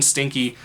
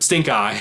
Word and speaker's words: Stinkeye: on this property within stinky or stink eye excuse me not stinky swamp stink stink-eye swamp i'm gonna do that